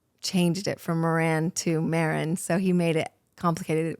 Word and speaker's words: Maran: And you say it Marin like Sharon or Karen. But anyways, um I don't mind if you spell say it wrong. I had some people say Moran.